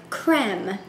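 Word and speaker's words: crème: melts chocolate dark classic creme there is a fancy little symbol over that first e in cream so I'm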